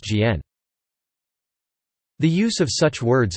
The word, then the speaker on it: 简: Simplified and reduced are actually homophones in Mandarin Chinese, both pronounced Jian.